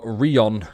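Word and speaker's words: Rien: It's a French word meaning nothing.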